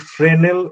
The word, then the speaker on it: Fresnel: This phenomenon is called Fresnel effect. The spelling is Fresnel. S is silent.